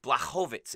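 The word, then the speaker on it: Błachowicz: with me the whole it's black hovitz it's right so anyway think about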